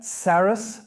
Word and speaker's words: Sarrus: Sarrus, that's how we always pronounce it.